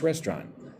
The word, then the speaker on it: restaurant: Last weekend we ate at a nice restaurant. Again, the word restaurant I say with two syllables.